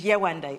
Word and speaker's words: Yewande: So I told him my full African name, which is Yewande. It's 3 syllables.